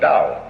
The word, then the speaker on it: Dao: Do is the Japanese way of pronouncing the Chinese word Dao.